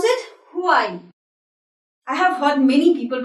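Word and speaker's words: Huawei: laptops you know mobiles so we pronounce it why I have fun many people pronouncing it who are it's a very popular brand but we pronounce it y way yeah the right to announces what they answers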